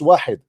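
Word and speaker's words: واحد: You do not even know how to say it is not Wahad, it's Wahid.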